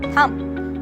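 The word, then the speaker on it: thumb: ऐसे ही हम बोलते हैं थंब, तो ये होता है थंब, पर इसे हम थंब नहीं बोलते, इसे हम थंब बोलते हैं।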